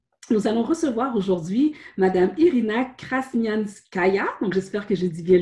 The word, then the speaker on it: Irina Krasnyanskaya: nous nous revenons nous allons recevoir aujourd'hui madame irina cranium ce gaillard j'espère que je dis bien le jeu prononce bien le nom direct revient très bien